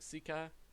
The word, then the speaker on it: Sika: Sika.